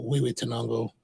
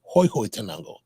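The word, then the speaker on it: Huehuetenango: Years ago, I met a guy, and he insisted on pronouncing Huehue Tenango as Hoi Hoi Tenango. Hoi. What in H-U? Even in English, it's Hugh, right? It could be Hugh Tenango, right?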